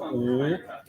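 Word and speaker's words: 五: Oh, in Chinese, five is pronounced wu, and it's a kind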